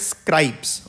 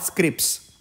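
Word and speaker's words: scrips: I will tell you see this word is pronounced as scribes okay scribes not Scripts so now what is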